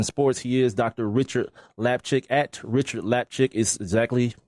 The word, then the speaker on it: Lapchick: Rickard Lapchick at Rickard Lapchick. It sounds exactly how it's spelled on Twitter.